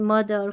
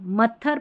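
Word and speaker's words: mother: टीएच को द जैसे देखें दिस दैट दीज़ दोज़ ऐसे वाले स्पेलिंग्स में और कुछ वर्ड मीनिंग जैसे मदर फ़ादर ब्रदर इनमें जो है टीएच को जो है द पढ़ेंगे मत्थर पादर ऐसा नहीं बोलते ना थ नहीं पढ़ते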